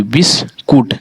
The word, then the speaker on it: biscuit: और BISCUIT, बिस्कुट, क्या बना ये, बिस और कूट बना, ठीक है। और इसमें हमारा IU साइलेंट है, ठीक है।